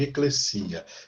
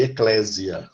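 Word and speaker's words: ἐκκλησία: Cuidado, que tem muita gente que fala em eclésia. Né? Eclésia é uma pronúncia errada. Uma pronúncia errada. Tá? A letra S em grego nunca tem som, às vezes em português. Tá? Então é eclesia. E não é eclésia, e o acento não é no clé, eclésia, o acento é no i, é eclesia.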